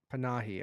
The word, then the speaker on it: Panahi: Panahi? How do you say it? Panahi.